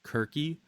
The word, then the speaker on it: Circe: Like how we say Circe when it, apparently C in Greek in a lot of cases ends up sounding like a K. So it'd be like Kirky instead of Circe.